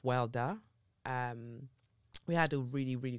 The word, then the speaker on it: Warda: I'll add in the wonderful interview that I did with Warda Farah, or pronounced Warda.